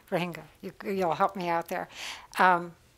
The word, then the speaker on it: Rohingya: Rohingya is the correct way to say it. Rohingya, you'll help me out there.